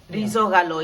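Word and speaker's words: ρυζόγαλο: Risogalo is how you say it in Greek.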